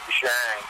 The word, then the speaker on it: Zhang: But for my last name is actually pronounced Zhang. It's French-Canadian. Oh, well, look at that. Zhang.